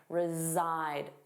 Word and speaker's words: reside: Notice that pronunciation reside. Zside, the voiced sound reside.